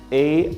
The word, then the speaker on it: aisle: It is spelled A-I-S-L-E, but we do not pronounce the S. That's why we say aisle seat.